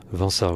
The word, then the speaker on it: Vinça: Vinça, je crois qu'on le prononce comme ça.